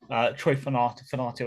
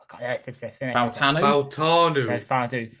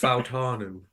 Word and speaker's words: Fautanu: I can't pronounce them right now. Troy Fanato, of course. Fautanu. Exactly. I see. This is why you sounded like a character from Shooting Stars, then, Ant. Fautanu. Yeah. It is Fautanu.